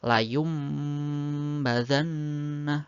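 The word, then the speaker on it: لَيُنْبَذَنَّ: ada satu yaitu ba iqlab sendiri artinya mengganti suara nun mati atau nun sukun atau tanwin ketika bertemu ba menjadi suara mim jadi membacanya layumbadanna nah seperti itu kemudian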